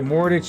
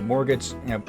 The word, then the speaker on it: mortgage: You need to pay a mortgage of the mortgage. How do you actually set up? Mortage. Mort. Most of the time I hear it says mortgage. Like the first G is silent.